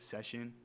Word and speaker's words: Cession: 90 of the time people get it right session um I would say it's it's pretty Universal